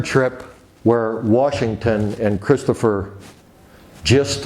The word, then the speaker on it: Gist: where Washington and Christopher gist or gist gist I believe is proper pronunciation made a homemade raft